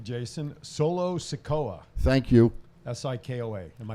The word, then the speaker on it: Sikoa: Sikoa. Am I pronouncing that right?